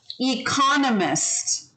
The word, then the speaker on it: economist: you see that word people tend to want to say it like economy um or economic right so every time you change the part of speech of this word it changes its pronunciation economy economic economist see